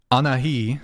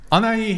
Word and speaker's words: Anahi: yeah 10 minutes yeah anahi did I say it right no should I just say bangs no I can't pronounce your name anai an i woman anai anai yes anai here is a feminist